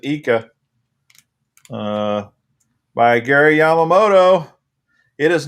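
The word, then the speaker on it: Ika: oh yeah it is called the fat eca or fat icah however you want to pronounce it i think they pronounce it eeka by gary yamamoto it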